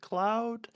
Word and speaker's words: Klaoed: me on Twitter Instagram all the socials at Cloud k l a o e know it's pronounced weird that's the name that I came